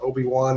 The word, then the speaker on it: OWBN: They call it Obi-Wan, even though that's not really how it's spelled.